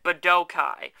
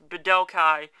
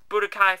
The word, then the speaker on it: Budokai: z but okay three that's right i said badoukai because it's pronounced bedokai in japan okay i'll final call budokai if you want me to but i won't